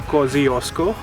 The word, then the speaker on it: Kosciuszko: It's pronounced Mont Kosciuszko.